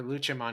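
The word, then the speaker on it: Lucemon: Like Lucimon or Luchamon, if you go by the Japanese pronunciation, he like stopped the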